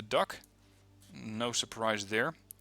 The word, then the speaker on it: DUKW: This is the, and I looked this up, it's usually pronounced the Duck, no surprise there.